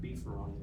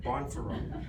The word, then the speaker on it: Bonferroni: Definitely not beefaroni like the undergraduates say, but Bonferroni.